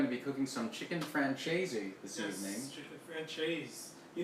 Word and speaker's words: Francese: Can I pronounce the E? Is the hard E at the end? Free Am I wrong to do that?